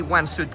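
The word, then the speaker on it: Łańcut: three stops from Jes and you will see Wansuit Castle. It's spelled L A N C U T.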